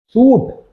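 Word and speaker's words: suit: सूट, अब इसको अलग अलग प्रोनाउंसिएट कर देते हैं लोग, इसको सिंपल याद रखिए। सूट और बूट आप याद रखते हो। बूट, ये सूट है, बूट है। बूट जैसे पढ़ते हैं ना वैसे ही इसको सूट पढ़ो।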